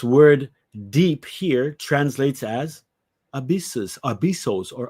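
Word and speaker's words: ἄβυσσος: This word deep here translates as abyssos, or abussos, they would pronounce it, right?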